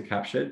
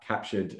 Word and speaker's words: CAPTUR3D: know virtual staging thing please log on to captured which is spelled c a p t u r 3d